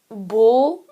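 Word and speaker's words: ਬੁੱਲ੍ਹ: on good a word could be bull bull in like bowl in english or in punjabi bull which means lips bull and ankur is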